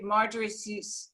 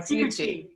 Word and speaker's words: Ciucci: So Marjorie Ciucci, I said it wrong, Ciucci. So Marjorie Ciucci, Senior Employment Benefits Consultant of Lowly Insurance.